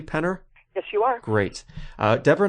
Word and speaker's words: Penner: And Deborah, am I pronouncing that correctly, Penner?